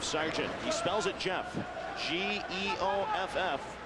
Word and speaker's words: Geoff: G-E-O-F-F. Spelled Jeff, but he pronounces it Geoff Sargent.